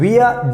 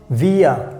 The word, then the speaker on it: wir: So wir, W-I-R. So wir means we. So always remember wir, the pronunciation, wir.